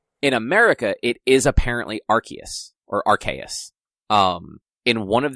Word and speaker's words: Arceus: way that it's written, it is Arceus. Okay. Like, it is a soft C sound. Okay. But in America, it is apparently Arceus or Arceus.